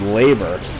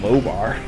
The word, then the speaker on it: Lobar: The guide has his name wrong. In the guide it says his name is Labor. His name is Lobar.